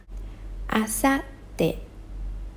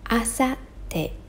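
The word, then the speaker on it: 明後日: Asatte, asatte. So notice here the small tsu, it doesn't pronounce, it's silent. Just leave a blank.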